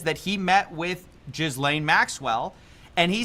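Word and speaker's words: Ghislaine: that he met with Jizlane Maxwell and he said I I've always pronounced her name Gizlane, but I like how he says Jizlane because it it just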